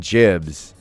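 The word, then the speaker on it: gibs: Jibs are short for giblets. Or some people say Gibbs, which is also a valid pronunciation, actually.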